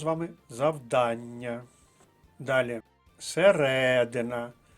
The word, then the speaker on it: середина: з вами завдання далі середина наголос на другому складі друга колонка середина річки